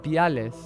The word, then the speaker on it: viales: Viales. I just realized she said viales with a V. She didn't pronounce it like biales.